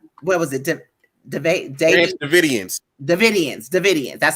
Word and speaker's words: Davidian: Davidians. That's how you pronounce it.